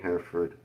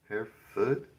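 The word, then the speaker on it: Hereford: Hair foot. Hair foot. So, don't pronounce the R at all.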